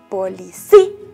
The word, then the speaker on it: policía: ¿En qué vocal está, mis niños? ¿En la O? No. ¿En la A? Tampoco. Está en la I. ¿Cómo se pronuncia? Repitan conmigo. Policía.